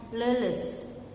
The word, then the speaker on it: leles: Leu es dibacanya leles. Leles artinya taya tanaga.